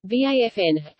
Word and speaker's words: Waffen: The Waffen-SS German pronunciation, Waffen, armed SS, was the armed wing of the Nazi Party's SS organization.